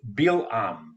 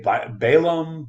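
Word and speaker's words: Balaam: I pronouncing it correctly well Hebrew bam but usually you know and some people say balum but okay whatever it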